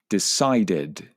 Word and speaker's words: decided: Okay, and finally, the final 3 verbs all had the id sound at the end. So you should have said accepted, decided, and succeeded.